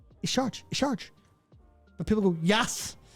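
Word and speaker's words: Y'Shaarj: in terms of how they've written out the pronunciation and said it is Yasharaj. It's written Isharj. Yeah, but they don't know how to take a Y apostrophe S and make it into noise. It's Isharj.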